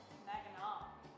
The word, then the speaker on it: Mackinac: Mackinac. That's how it's pronounced Give here.